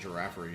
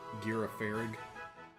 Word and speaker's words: Girafarig: Well, I don't think I'd want a Giraffary anyway. It looks like it sucks. Girafarig. I like mispronouncing Pokemon names.